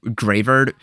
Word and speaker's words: Greavard: Also, I think the official pronunciation is going to be Greavard because it's most likely a play on words with graveyard.